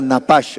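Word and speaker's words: נפש: Este soplar es un verbo en hebreo que es la palabra napash, se escribe n a p a s h, napash.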